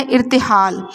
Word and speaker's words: ارتحال: کا تلفظ واضح کیجیے۔ پہلا ہے ارتحال، الف کے نیچے زیر، رے پہ جزم، تے کے نیچے زیر، ہے پہ زبر اور لام پہ جزم۔ شیار، شین کے نیچے